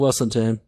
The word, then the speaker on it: Weselton: From the nearby kingdom of Weselton, not to pronounce the western town, but pompous Van Duke thinks he can outdance, outcharm, and outwit anyone.